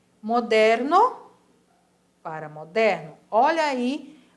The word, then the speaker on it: moderno: velho e moderno para moderno Olha aí outra palavrinha de novo que a escrita da mesma maneira mais pronunciada diferente moderno Olha a vibração do meu web para moderno é aborrecido